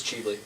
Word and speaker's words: Ghibli: pronouncing that wrong too cheaply cheaply yeah it is cheaply they pronounce c the G like a c g Lee okay and it's uh